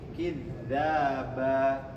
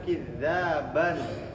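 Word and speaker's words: كذابا: Tapi kidzaba bukan kidzaban bukan. Ini kenapa ada alif?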